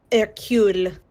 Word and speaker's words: Hercule: Poirot's first name is Hercule. That's correct. Good job on the pronunciation there.